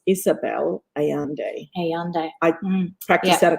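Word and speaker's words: Isabel Allende: to michelle for bringing it up and it's pronounced isabelle ayande ayande i practiced that a couple of times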